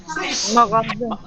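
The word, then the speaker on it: مغازه: खाने का सामान, सामान की दुकान, इसका प्रोनाउंसिएशन करिए, मगाजे मगाज़े, अहसन, मगाज़े। फारसी में जिस लफ्ज के आखिर में हे होता है गोल वाला, उससे पहले वाले वर्ड को जेर पढ़ते हैं।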